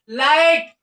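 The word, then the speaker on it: light: जैसे लाइट क्या है? लाइट। देखो लाइट आई के तो निकल रहा है और सीधा टी आ गया है। जी एच की साउंड नहीं निकल रही।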